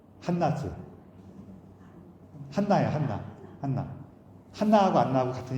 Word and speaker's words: 한나: 그 사무엘의 어머니 이름도 안나죠. 한나죠.